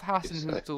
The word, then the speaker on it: Hasenhüttl: he has been replaced by the ex-Leipzig manager Hasenhüttl, I think. Better pronunciation than I would do. Ralph Hasenhüttl.